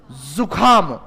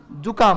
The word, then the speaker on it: जुकाम: अब देखो क्या लिखा हुआ है, जुखाम, तो जुखाम लगने के बाद में इतना जोर थोड़ी लगाया जाता है, जुकाम होता है, किस क्या होता है, जुकाम।